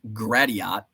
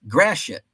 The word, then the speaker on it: Gratiot: You go through like Blanchardville, Argyle, Gratiot, which is a fun, sounds like grass shit.